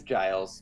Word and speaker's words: Giles: from the poem Giles is it Guiles or Giles it's Giles but that's my name